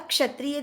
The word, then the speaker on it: क्षत्रिय: अब क्षत्रिय देखिए, क्ष किससे मिलकर बना है, क धन श धन अ से। तब क्ष हम उच्चारण करते हैं तो ही पता लगता है, क पहले सुनाई दे रहा है फिर श सुनाई दे रहा है।